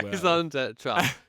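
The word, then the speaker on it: raison d'être: raison d'etre. Good French pronunciation.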